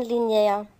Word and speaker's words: línea: Me gusta comprar en línea. Ja, schön. Betonung auf dem I, linear. Línea.